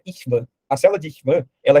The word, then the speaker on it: Schwann: É estranho, mas a pronúncia é Ishvan.